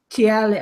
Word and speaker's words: Thales: They like to call themselves TL or something stupid, but it's spelt Thales anyway.